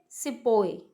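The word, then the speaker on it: sepoy: सिपाही वर्ड को वो कैसे प्रोनाउंस करते थे? वो करते थे सिपोए.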